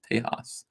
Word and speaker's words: Tejas: Tejas. That's how to pronounce T-E-J-A-S.